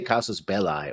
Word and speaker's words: casus belli: I've always said Casus Bell. Casus Bell. That's a belly because that's an I at the end, so.